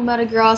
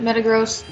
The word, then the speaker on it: Metagross: I don't know if I would call Metagross pseudo-legendary. Or Metagross, isn't it Metagross? Well, if you want to pronounce it like meta disgusting, then it's Metagross.